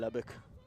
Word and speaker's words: Lubbock: My first reaction, I asked Mom, and she went, hey, Dad, how do they pronounce it? Lubbock. Okay, good.